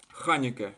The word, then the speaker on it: חנוכּה: Это ков, ханике, ударение на а.